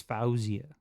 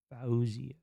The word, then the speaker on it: Faouzia: Um I think it's Fauzia. Fauzia. Fauzia. Fauzia. F A O is Fau. Fau. Z I A. Uzia. Fauzia.